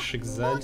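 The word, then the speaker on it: Schicksal: Шикшаль читается как Шикзаль, снежная судьба.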